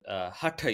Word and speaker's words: Hatha: So you mentioned Hatha yoga, and I'm just emphasizing the correct pronunciation there, so I so rarely hear it, right?